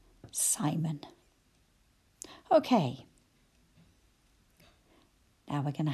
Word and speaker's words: Simon: how about the name simon i can hear two syllables psy mun again that schwa has appeared so psy must be the stressed syllable and i could hear